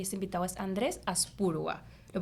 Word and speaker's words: Andrés Aspurua: que es la tecnología, y ese invitado es Andrés Aspurua. ¿Lo pronuncio bien?